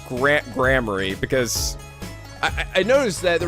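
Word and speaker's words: Gramarye: So anyway, I think it's pronounced Grammary. Although it says fucking rye, all right?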